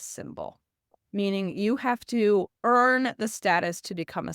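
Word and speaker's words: Aoife: Her name is EA. It is spelled AO I f.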